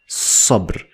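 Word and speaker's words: صبر: They look the same in these two parts, but they are separate and it's pronounced as sabr.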